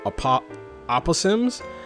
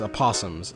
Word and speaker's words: Aposimz: book, because at first I was calling it Aposimz, because I thought it was pronounced Aposimz, but it's Aposimz.